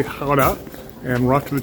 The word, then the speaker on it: Gouda: Today we're in Gouda, or as the locals say, Gouda, and we're off to the cheese market.